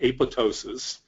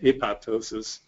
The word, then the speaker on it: apoptosis: of cell death called apoptosis the second p is silent but you'll hear it pronounced apoptosis uh even by people